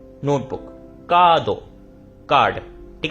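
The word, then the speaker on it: カード: तो यहां पे देख रहे हो मेरी जब मैं बोल रहा हूं का दो। यानी कि मैं यहां पर एक्सटेंड करके बोल रहा हूं। सिर्फ और सिर्फ का दो। ऐसे नहीं बोल रहा। का दो।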